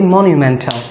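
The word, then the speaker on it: monumental: আরেক ভাবে বলতে পারি সো এখানে একুরেট প্রোনাউন্সিয়েশন হবে মনিউ মনিউ মনিউ আমরা অনেকে মনো বলি মনিউমেন্টাল মনিউমেন্টাল আবার একেবারে মনিউমেন্টাল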